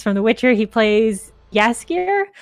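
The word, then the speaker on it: Jaskier: witcher he plays yaskir i'm always worried that i'm going to mispronounce that because it it is felt with a j and it does look like it should be jasper but i know it's not it uh anyway uh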